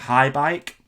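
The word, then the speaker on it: Haibike: So then there's a woman, a German lady, who was one of the head honchos at High Bike. That's how you say it, isn't it? HAI, High Bike.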